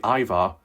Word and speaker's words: Ivar: I don't think that is Lovar cuz that was like a capital I, Ivar. I wonder if people have been pronouncing it wrong all this time.